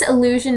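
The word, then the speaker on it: allusion: And this illusion is spelled A-L-L-U-S-I-O-N, illusion, not illusion.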